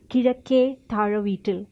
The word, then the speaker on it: Kizhakke: It's a Malayalam last name, and because I'm from the state of Kerala, okay, in the southern part of India, and it's pronounced as Kizhakke, which means east side down house.